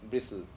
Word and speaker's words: bristle: This I is pronounced in its original form, bristle.